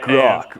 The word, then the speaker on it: Grok: Call it Grok. Rhymes with Grug.